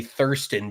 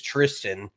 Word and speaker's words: Thriston: I was gonna say I always want to say thiren because of the way his name is spelled but it is Tristan just spelled in a South African messed up kind of way but that dude played